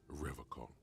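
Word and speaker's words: Revachol: pronounces Revacol with a hard K, unlike other people.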